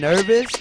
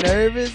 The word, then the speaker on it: NRVS: I know it's NRVS, but does that mean nervous? Is that like, it looks like nervous? Like, Inner Vision.